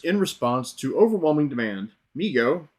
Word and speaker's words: Mego: response to overwhelming demand Migo pronounced Migo Corp was started by his father David Abrams in 1954 and named by his younger brother Howard who would say me go too Howard later